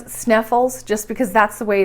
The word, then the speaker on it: Snæfellsnes: But tonight we've learned Snæfellsnes, and although I know it's Snæfellsnes, I'm probably still going to pronounce it Sneffels just because that's the way it's written, and that's how I've been pronouncing it.